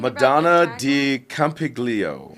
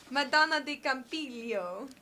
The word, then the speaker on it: Madonna di Campiglio: his country at the olympics are you talking madonna di campiglio yeah madonna de campiglio thank you do either one of us pronounce that right well i did take italian